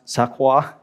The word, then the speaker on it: St. Croix: Thomas, St. Croix, or if you are French, maybe it's pronounced Sakwa.